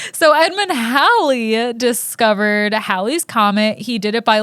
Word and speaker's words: Halley: the guy who discovered halley's comet yeah i learned this time around that it's not pronounced haley's comment i kind of thought